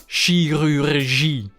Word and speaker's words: chirurgie: Again, we have some pronunciation rules in this word. CHI always becomes she. She. Then you have the bumbling R's, as usual in French, which comes directly from the throat.